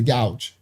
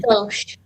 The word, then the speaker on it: gauche: They got the gouch. Pronounced gauche.